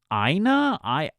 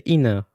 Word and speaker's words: IINA: Is it IINA? It's IINA. IINA? IINA? I would say IINA. IINA. Okay, we'll go with IINA then.